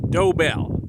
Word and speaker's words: Dobell: we're gonna visit the dobel ranch and they've got some nice pictographs here to help you understand how to pronounce the name of their Ranch dobel they got a doe and a bell and um well we're